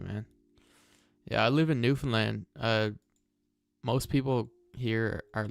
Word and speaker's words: Newfoundland: Yeah, I live in Newfoundland. Uh, most people here are like British, you know, that came from that area. Yeah, Newfoundland's in Canada. Yeah, I'll show you guys. Newfoundland is spelled new found land.